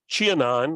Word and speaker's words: Qianan: The Osmanthus fragrans with the tough to pronounce Chinese name, Qianan Guifei, which is, we have just on the other side of the Lath House, the Qianan, and I believe that's how I finally figured out how to pronounce it.